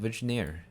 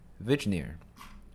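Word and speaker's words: Vigenère: you can make out like this is a test okay next up is we got vagineer vigenere vignear not sure how to pronounce that it's french so vegnier is a so this string is encoded with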